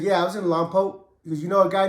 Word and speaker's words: Lompoc: man he was in Long pot Long Poke just to make I know I've been saying it wrong the whole time but he was actually hey was you in lone poke I said yeah I